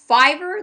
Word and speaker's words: Fiverr: thing is we met through a website called Fiverr did I pronounce that right that's correct yep and um